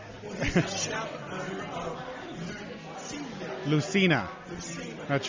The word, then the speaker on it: Lucina: So, yeah, Lucina, the soft C.